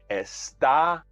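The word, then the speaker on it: está: means you are and it's important to emphasize the second syllable esta arrestado pronunciation is important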